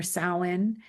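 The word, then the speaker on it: Samhain: a m h a i n and it's pronounced sin.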